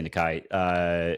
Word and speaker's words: Nikai: We're going to say Nikai. Martinez. So that's actually how it's pronounced. It's written out that way in the media guide.